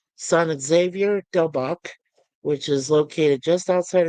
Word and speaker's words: Xavier del Bac: It is actually known as the oldest church in the United States, San mm, Xavier del Bac. or Javier del Bac, if you want to pronounce it by the Spanish way.